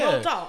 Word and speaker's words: Roald Dahl: How do you pronounce his name? Roald Dahl? Yeah. Roald Dahl.